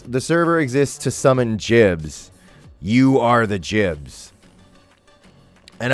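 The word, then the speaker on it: gibs: Jibs are short for giblets. Or some people say Gibbs, which is also a valid pronunciation, actually.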